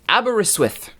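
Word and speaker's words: Aberystwyth: pronunciation of one of the Welsh teams it's pronounced abber iswith there we go hopefully I got that right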